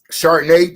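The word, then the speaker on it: Charbonnet: Chardonnay. I was like, oh shit, that's how you pronounce his name?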